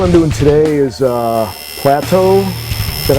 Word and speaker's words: Plato: Uh tattoo I'm doing today is uh Plateau. Is that how you pronounce it? Yeah. Plato.